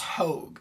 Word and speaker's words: Hogue: Okay, apparently it's pronounced Hogue.